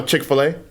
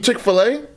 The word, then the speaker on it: Chick-fil-A: You pronounce the A. I just thought to me it was chicken fillet. That's how I used to pronounce it.